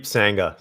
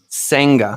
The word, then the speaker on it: Sangha: It's Sangha. So it's just as it's spelled except for the H in my last name. Sangha.